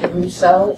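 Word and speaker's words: Desiusseau: spell your last name my last name is pronounced Russo spelled D e s i u i s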